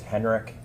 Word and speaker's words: Henrik: Can you please state your name and spell it for the record? Sure. My name is Henrik.